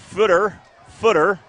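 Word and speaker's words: Futter: Number 25, Davion Footer. It's spelled F-U-T-T-R, but you pronounce it like it's F-O-O-T-R, like a footer in when Microsoft Word or something like that.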